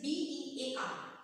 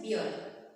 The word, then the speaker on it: bear: Like it is B-E-A-R. Most of the time what we say? Beard. It's not beard. It's bear.